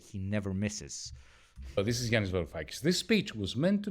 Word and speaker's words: Yanis Varoufakis: Are you jealous of me that I can pronounce his name properly? Yanis Varoufakis.